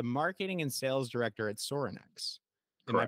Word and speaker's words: Sorinex: again you're the marketing and sales director at sorinex am I pronouncing that correctly yep and this might seem